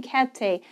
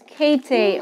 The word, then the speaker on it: Käthe: I'm sorry, I'm saying Käthe. It's Käthe Wolf. Käthe's. Yeah. Käthe's. Yes, Käthe. Sorry about that pronunciation. When I see the umlaut, I remember to pronounce it correctly.